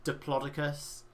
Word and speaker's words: Diplodocus: He's like, I think they did it on purpose to really emphasize that you pronounce it as Diplodocus. Like, he just says it that way over and over again. It's like, it's Diplodocus.